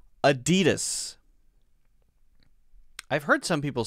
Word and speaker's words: Adidas: we have adidas and when we say that we say a d d we emphasize that one so the first one is uh uh uh it's almost what we call a schwa sound put it up there it's almost what we call a schwa sound which means we don't stress it right uh uh uh uh it's kind of a neutral sound and then d d is